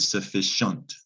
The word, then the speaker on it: sufficient: french word sufficient sufficient the c-i-e-n-t sounds like shant sufficient became the english word sufficient and that's french c-i-e-n-t we have that we kept it in english but we pronounced c-i-e-n-t shent or shint sufficient sufficient depends on how